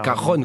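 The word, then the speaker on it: cajón: férus de musique évidemment ça s'écrit cas jaune c'est cajon comme l'amour est l on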